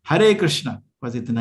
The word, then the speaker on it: कृष्ण: तो मेरे को ये कंफ्यूजन है कि कृष्णा है या कृष्ण है, रामा है या राम है? ठीक है, ठीक है। परफेक्ट प्रोनाउंसिएशन करना चाहते हैं, कृष्ण है, कृष्णा नहीं।